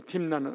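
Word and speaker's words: 딤나: 원래이 우리가 이제 딥나라 그 팀나 이게 앞에 있는게 타부입니다.이 히히브리어 알파벳이 예 타 눈 에이기 때문에에 발음할 때 팀나이 팀나 이렇게이 매미에 대해서 님으로 들어가서 팀나 이렇게 하거든요.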